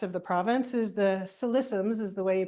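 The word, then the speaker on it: Ksi Lisims: the or northwest of the province is the solissums is the way you pronounce it liqufied natural gas project.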